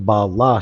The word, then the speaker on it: Bala: It's actually pronounced Bala shark. Okay. How do you know that for sure, 240? I want to know. I want to know your facts and figures, because why can't it be Bela?